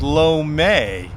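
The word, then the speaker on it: lou mei: cantonese-speaking restaurants in Chinatown they will refer to it as low May that's how you say it in Cantonese uh but for Peter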